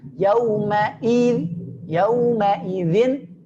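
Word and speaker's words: يومئذ: Yauma idzin jelas hamzahnya, pangkal tenggorokannya.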